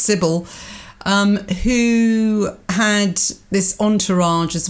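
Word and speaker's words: Cybele: up the image of Sibley and I saw it's pronounced Sybil who had this entourage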